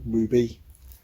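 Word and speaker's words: RWBY: about this series are wby it is pronounced ruby object this is volume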